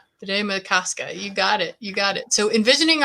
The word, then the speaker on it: Bde Maka Ska: It was Bde Maka Ska. Bde Maka Ska.